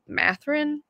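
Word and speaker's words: Mathurin: I was between Jaden Ivy and uh Benedict mathrin so that's how you say his name yeah Benedict mathering yeah so I ended up picking him um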